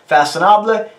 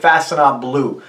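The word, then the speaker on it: Façonnable: Now, I know I'm saying that right, 80% right, because I did check that out. Everybody else on YouTube saying it wrong to the best of my understanding. So Faconnable, Faconnable. It's almost like Faconnable.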